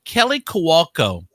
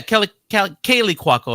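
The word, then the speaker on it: Kaley Cuoco: Kelly Kowalko burst into tears. Is that how you pronounce that?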